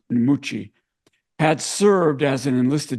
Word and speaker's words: Mucci: West Point muy and in Italy by the way of pronounce nuchi had served as an